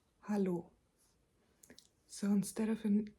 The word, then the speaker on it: hallo: Hello is hallo. Hallo. So, instead of an e, there's an a here. And in German, an a is pronounced not a, but ah.